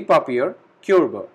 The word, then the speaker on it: Papierkörbe: We have extra e at the last and o with umlaut, which has a pronunciation of eo. So we call it die Papierkörbe, waste baskets.